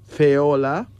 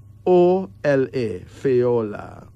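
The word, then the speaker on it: Fayola: Feola. F-A-Y-O-L-A. Feola.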